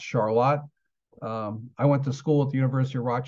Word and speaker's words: Charlotte: it's Charlotte North Carolina but in Rochester it's pronounced Charlotte um I went to school at the University